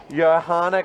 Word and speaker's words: Johanna: Johanna, you don't pronounce the J, you pronounce it with a Y? It's like a Y, yeah. With a Y, yeah. Johanna Grauer?